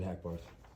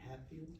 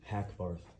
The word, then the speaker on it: Hackbarth: My name is Hackbarth. Hatfield? Hackbarth. How do you spell that?